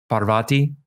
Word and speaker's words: Parvati: to pronounce it so Parvati hmm I believe is the correct way to say it's best when you